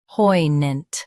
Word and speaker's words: poignant: poignant Both US and UK have the same pronunciation of this word. Stress, poi. Keep gnant soft and quick.